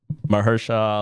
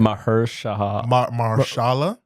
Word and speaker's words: Mahershala: Look, I know we lost Mahershala Ali, but I think Damson Idris could possibly be a substitute for Blade down the line.